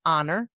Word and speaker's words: honor: A silent H. Yes, like in honor. You are on your honor, not your honor.